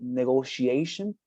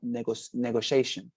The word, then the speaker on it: negotiation: For example, when you say negotiation, remind that you don't have to skip the part she, but you say negotiation, right? Not negotiation, but negotiation.